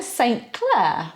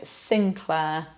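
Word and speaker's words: St Clair: Then St. Clair. Well, you'd think that was quite obvious. No, Sinclair. The same with St.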